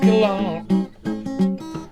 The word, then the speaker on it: Gallant: His name is French, and I pronounce it that way. Jeff Gallon.